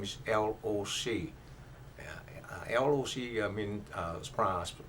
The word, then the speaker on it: Loc: First name is L-O-C. L-O-C means pronounced Loc.